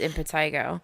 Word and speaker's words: impetigo: like it's it's pronounced in Pedigo but it's pronounced impetigo okay so essentially impetigo is a highly contagious